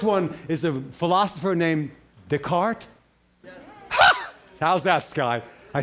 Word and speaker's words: Descartes: So here's the first one, is a philosopher named Descartes.